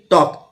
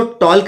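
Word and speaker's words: talk: रहा है ऐसे ही टी ए एल के टॉक तो इसमें एल साइलेंट है इसको टॉल्क नहीं पढ़ेंगे और एस एच ओ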